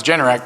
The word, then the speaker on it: Generac: did find out is generic comes from generate ac they are the home